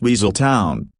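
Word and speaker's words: Weselton: Alan Tudic's portrayal of the Duke of Wazelton pronounced Weasel Town as the character insists demonstrates the actors remarkable ability to create memorable characters through voice work alone.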